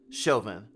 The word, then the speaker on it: Chauvin: avoid them sorta kinda i think his last name is pronounced shivan shelvin chauvin okay thank you instrument hope